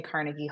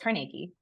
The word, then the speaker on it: Carnegie: Carnegie buried there and people are people say carnegy Hall but it was actually according to the